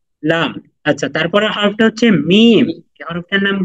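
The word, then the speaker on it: ميم: কি লাম লাম লাম আচ্ছা তারপরের হরফটা হচ্ছে মিম হরফটার নাম কি মিম মিম মিম মিম মিম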